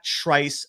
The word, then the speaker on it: Trice: much more by visiting trice's YouTube page it's Trice official Trice is spelled TR r i CE so here are